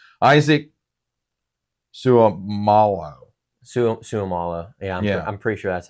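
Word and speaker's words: Seumalo: And I know this player, but I always had a hard time pronouncing his last name. Isaac Suamalo. Suamalo.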